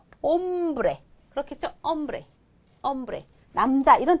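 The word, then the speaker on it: hombre: 보세요 아까 뭐라 그랬냐면 얘는 무궁이다 발음하지 않는다 그렇죠 옴브레 그렇겠죠 엄브레 엄브레 남자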